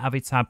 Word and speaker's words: Avitab: I'm going to just put the text on there, Avitab, pronounced like that.